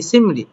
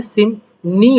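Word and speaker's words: 심리: নিউন পড়বে এ যেমন এখানে বলছে সিমরি এখানে উচ্চারণটা হওয়ার কথা কি সিমরি কিন্তু এখানে সিমনি হবে না নি হবে যেমন রিয়ক এরকমটা হওয়ার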